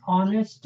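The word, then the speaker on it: honest: Ram Babu is एन ऑनेस्ट मैन य गौर करो यहां एच का प्रोनंसिएशन नहीं हो रहा है ये H silent here we pronounce from here नेस्ट ओ से शुरू हो रहा है प्रोनंसिएशन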